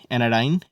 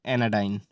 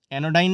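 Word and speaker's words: anodyne: 83 एनाडाइन, एनाडाइन का मतलब होता है पीड़ानाशक, बिनाइन। इसकी प्रोनाउंसिएशन को भी ध्यान से सुनिए, मैं क्या बोल रहा हूँ, एनाडाइन, एनोडाइन नहीं, एनाडाइन।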